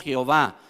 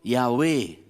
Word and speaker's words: Yahweh: De hecho, también en el nombre de Dios, que nosotros generalmente en lo evangélico lo llamamos Jehová, ¿no? Pero se ha descubierto ya que mejor sería la pronunciación Yahweh, ¿no?